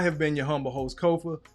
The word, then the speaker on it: Kofa: I have been your humble host Kofa Ko FA not coffee not kufu not kofi or any variation thereof. Kofa rhymes with sofa easy to say easy to spell.